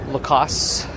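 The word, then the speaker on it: Lacoste: It's pronounced Lacass. Don't even say the T.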